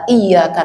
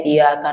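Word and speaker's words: إِيَّاكَ: Apalagi pada kata iyyaka na'budu wa iyaka nasta'in gitu, Pak. Ya, kalau dia bacanya iyaka na'budu wa iyaka nastain enggak ada tasdid, jangan salat di belakangnya, Pak.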